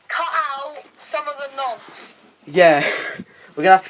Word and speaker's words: Nantes: We're gonna have to say Nantes because we don't fancy saying it again. Nonce, as it is actually said.